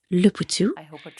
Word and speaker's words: Leputu: Je suis ici avec docteur Rose Lepou. J'espère avoir bien prononcé votre nom.